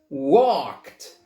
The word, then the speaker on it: walked: So it's walked. That's right. So you forget the L and you forget the E.